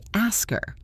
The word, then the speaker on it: ask her: Or ask her, we say ask her.